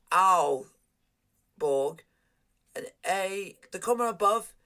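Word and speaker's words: Aalborg: ah this is good when they are two a's it's pronounced owl borg and a the comma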